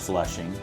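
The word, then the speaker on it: Vlissingen: It's actually pronounced flushing just like the neighborhood in New York City which was named after this very town.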